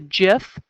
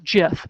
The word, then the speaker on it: GIF: going to show you a Jif or gif depending on how you pronounce it my son assures me it's jiff so I'm gonna show